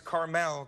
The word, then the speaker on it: Carmel: of this restaurant is carmel cafe and wine bar it's not the little candy at all it's like the place in california terry ryan am i correct yes sir okay carmel cafe and wine bar